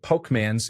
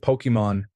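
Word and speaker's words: Pokémon: Things like Pokemans instead of Pokemon, RuneScape instead of RuneScape, and so on.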